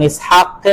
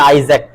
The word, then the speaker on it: ইসহাক: পার্থক্য আছে ঠিক আছে নামের উচ্চারণ আরবি এবং ইংরেজিতে পার্থক্য আছে যেমন ইসহাকে আমরা বলছি ইসহাক তারা বলছে আইজ্যাক কি বলে ওই যে